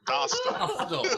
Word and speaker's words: Dostal: Because you wrote in the Facebook chat that Dostal pronounced with hostile. So is it Dostile? Still, Dostal. Hostile. It's pronounced hostile.